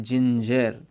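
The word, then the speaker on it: ginger: अपना क्या बना जय, क्योंकि देखो जी के बाद में आई और ई आ रहा है, आई और ई तो अपन क्या बनेगा जिंजर।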